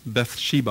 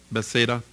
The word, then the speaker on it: Bethsaida: And He comes to Bathsheba, I think that's how they say it, right? Bethsaida. There we go, Bethsaida.